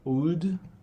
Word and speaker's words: oud: It's really a beautiful uh instrument called oud. O U D. It's spelled O U D.